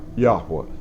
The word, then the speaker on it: Yahuwah: righteous ones in yahuwah now yahuwah that's how i pronounce the hebrew word that is our father